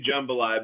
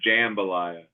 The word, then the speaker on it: jambalaya: Well, I I did I did say jumbalaya, but then Joe corrected me and said, "TJ, it's jambalaya."